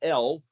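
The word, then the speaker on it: אל: Well, Aleph, Lamed, that's the word pronounced El, or Aleph, Lamed, A-L, which is a short for Elohim, which is translated God.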